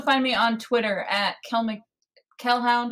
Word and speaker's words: Kelhound: You can also find me on Twitter at Kelhound, which is spelled like Hellhound, but with a K.